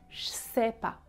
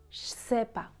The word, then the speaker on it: ch'sais pas: Ch, je sais pas, je sais pas.